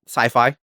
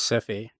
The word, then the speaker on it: sci-fi: Sci-fi. Sci-fi. Spelled with a CI. I always thought it was Cphie. I'll be honest. Cuz it's CI fi.